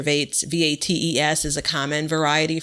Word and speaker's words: Vates: Vats, I think it's pronounced Vats or Vates, V-A-T-E-S is a common variety for that.